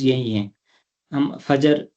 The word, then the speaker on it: فجر: تلفظ یہی ہیں، ہم فجر، ظہر، عصر یہ کرتے ہیں، یہ اس میں جو دوسرا حرف ہے وہ ساکن ہے۔ فجر، ظہر، عصر، مغرب،